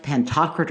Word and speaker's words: Pantocrator: Dome was Christ pantocrator by the way I pronounced that wrong in my last podcast I've since checked it I should have then so Christ pantocrator or ruler of all